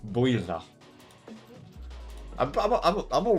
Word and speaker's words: Builth: That's That's That's what That's how it's pronounced. Builth I'm I'm all right.